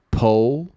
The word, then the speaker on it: pull: Pull, pull.